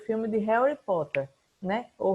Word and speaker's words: Harry Potter: assistiram o filme de Harry Potter, né? Ou Harry Potter, para algumas pronúncias, porque tem a pronúncia do inglês americano, que eles trocam o T pelo R, e tem a pronúncia